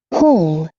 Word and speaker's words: whole: whole, Whole. O E final também não pronuncia.